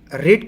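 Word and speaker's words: read: I have रेड का third form रेड है, spelling same होती है बेटा, लेकिन जब पार्ट वर्ब 3 में इस्तेमाल इसको हम करते हैं तो उसका साउंड हो जाता है, प्रोनाउंसिएशन हो जाता है रेड।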